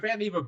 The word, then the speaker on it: Vannevar: Right, but Vannevar Bush, whose name rhymes with Beaver, by the way, he had a whole thing about that in his childhood.